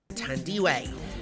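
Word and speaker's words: Thandiwe: She said we were saying her name wrong. We have been. Tandy Way.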